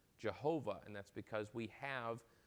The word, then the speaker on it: Jehovah: tetragrammaton and we get jehovah or jehovah as we call it because we pronounce the j in english so that's where we